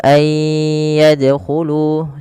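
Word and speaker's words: أن يدخلوها: Kemudian pelafal ay yadkhulu sama ada nun sukun bertemu dengan huruf ya. Maka cara membacanya sebagaimana ayudkaro yaitu masukkan nunnya kepada huruf ya dan bunyi nunnya hilang kemudian terdengar hanya bunyi yanya saja dan ditahan sepanjang dua harakat. Ay yadkhulu.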